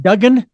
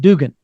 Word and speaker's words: Dugan: I mean, have people say, oh, is that Duggan or Dugan? I said, no, it's actually pronounced, and it's okay. It's pronounced Dugan.